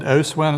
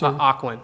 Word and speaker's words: Ocwen: this document was not created by, is it Oswin? Is that how you pronounce this? Ocwen.